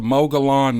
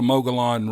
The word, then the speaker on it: Mogollon: This incident occurred in the, well, no, it's not in the, but it's about the Mogollon monster. Now, I know some people say it's pronounced Mogollon, but that's not how it's spelled.